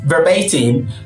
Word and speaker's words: verbatim: him verba him and the stress falls to the one in the middle the second SL from the first or the penultimate from behind so now that you